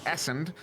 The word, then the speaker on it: Essen: there by essen and for anyone who has ever been curious how to pronounce essen's name that is a correct pronunciation it is essend do not misquote me an uvansi with a